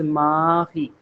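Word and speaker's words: Marie: The moment you say it in French the pronunciation becomes mi. So the alphabet a is almost like a in French. Okay. And the alphabet R in French language is almost equivalent to the alphabet H in English in terms of pronunciation. Therefore, it becomes mahi. If I give you one phonetic, it is mahi.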